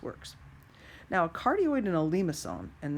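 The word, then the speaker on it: limaçon: now cardioid in a Lima song and this is how you say Lima song it's a French word Lima song that's what that Louis thing is doing on that C so we have cardioid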